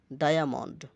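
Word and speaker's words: diamond: যেমন dialogue, dialogue কথোপকথন, ডায়ামন্ড, ডায়ামন্ড হীরক, ডায়ামন্ড, আইএ, আইএ, আইএ এর সামনে ডি আছে আর পেছনে এম আছে, দুই মুরাই কনসোনান্ট, যে কারণে ডায়ামন্ড, আইয়া, আইয়া উচ্চারণ হয়েছে আইয়া, ডায়ামন্ড।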